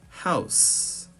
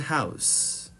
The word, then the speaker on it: house: for words that are pronounced with an S when used as nouns and with a Z when used as verbs. For example, house. House. I live in a house or house.